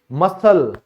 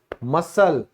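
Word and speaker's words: muscle: तो ये भी क्या है, हमारा सी साइलेंट है। तो ऑल्सो देखो, यहां कुछ और एग्जाम्पल हैं डेली यूज के। मसल, मसल।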